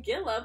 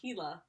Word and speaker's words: Gila: So, the slow-moving Gila pronounced... Oh, I'm saying it wrong. It's pronounced Gila. So the Gila monster.